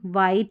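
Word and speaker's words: white: ये कॉम्बिनेशन जो रहेगा WH का, इसमें H साइलेंट रहेगा। क्या रहेगा, H। जैसे इसको वॉट, इसको वीट, व्हील, व्हेन, वाइट, विच, वाई, इस तरीके से पढ़ा जाता है।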